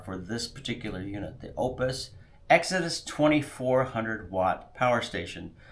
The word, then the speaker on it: Oupes: the Opus Exodus 2400 watt power station. I know it's kind of funny because I've heard people pronounce this as oops or oops.